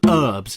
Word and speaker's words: herbs: serious question for Americans why do you call them herbs why is there a silent h there what do you live